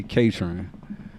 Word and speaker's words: KāTRŏN: So you pronounce my name with a long A, short O. So like you would say matron or patron, you could say KāTRÅN.